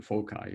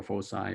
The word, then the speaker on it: foci: will not worry about the foci or fosai or fochi however you want to call this how do you pronounce this right sounds very much like some doctor's name that is become quite famous but um it's it's you know foci i guess right um but but